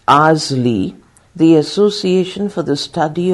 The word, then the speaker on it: ASLE: the co-founder of asle pronounced as Azle the association for the